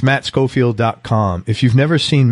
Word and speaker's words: Schofield: tell the truth in his last name is spelled SCH so it's Matt ma TT SCH o fi eld Matt Scofield calm he's also on